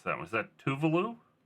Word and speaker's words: Tuvalu: I'm going to try to pronounce that. Was that Tuvalu? Tuvalu, yeah.